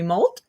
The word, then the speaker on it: Moult: We have Barry Moult, and I Am I pronouncing your last name right?